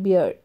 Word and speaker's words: beard: Spelling style जो है same है, ठीक है ना. HEART हार्ड, BEARD बियर्ड, HEARD हर्ड, ठीक है. लेकिन प्रोनाउंसिएशन इज क्वाइट डिफरेंट. जो बोलने का स्टाइल है वो बहुत ही अलग है, तीनों अलग अलग है.